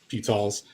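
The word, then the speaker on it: Ptolemy: pamy with uh and I know it's tmy but I like to pronounce it palls but anyway pamy you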